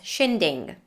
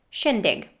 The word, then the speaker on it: shindig: schwa after the l the word shindig might be pronounced by some people as shinding as if there was an ing ending but there is no ing ending it's just the schwa plus a gu sound shindig the word calculate would